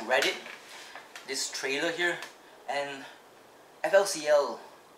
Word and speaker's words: FLCL: Oh my god, I just found this like through Reddit, this trailer here, and FLCL, or in Japanese it's called Furi Kuri.